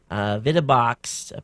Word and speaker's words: VidaBox: VidaBox, pronounced VidaBox, is a high-end computer entertainment manufacturer, and this is a whole house solution for those of you who want the best.